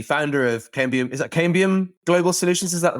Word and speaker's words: Cambium: Is that Cambium Global Solutions?